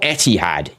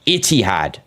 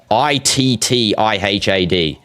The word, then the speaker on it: Ittihad: No, not Etihad. Ittihad. Ittihad. Or in Arabic, it's spelled different, obviously.